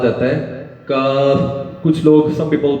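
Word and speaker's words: كاف: ہے اور اس کے بعد آ جاتا ہے کاف کچھ لوگ some people pronounce it Kaif not it's wrong so how will say کاف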